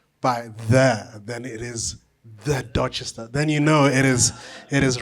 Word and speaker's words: Dorchester: now I should have asked you how to pronounce this, but Nagamotswana, Dorchester. What is it? Dorchester.